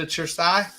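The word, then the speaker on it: Cersaie: the invite yet to chersai or why is it pronounced your Sai and it's spelled with the c I don't understand well c e in Italian is a chess sound so sure CE is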